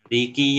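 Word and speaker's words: مالك: Untuk Imam Hafs di sini mad tobi. Riwayat yang lain ada yang tanpa mad. Ya. Jadi dibacanya maliki.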